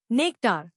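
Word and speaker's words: nectar: नेक्टार नया लफ्ज नेक्टार इसको तोड़ते हैं नेक्टार जोर नेक पर है। एन ई सी टी ए आर नेक्टर अ sweet liquid found in flowers.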